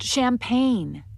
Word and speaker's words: champagne: Next, we have the silent G, which you'll find often before the letter N.